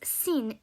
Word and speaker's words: sin: names start with the letter s pronounced as seen the 15th letter in